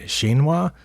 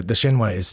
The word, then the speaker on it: Shinwa: Shinwa, I believe is how you say that, Shinwa. It's a Japanese company, and it says it's made in Japan. Now it's smaller than the other ones. I mean, compared to the Empire one, the Shinwa is tiny.